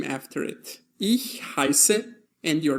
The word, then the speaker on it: heiße: Note that in this case, the combination between the letters I is pronounced I, as in heiße, and not heiße or hieße, but heiße, as in the expression ich heiße.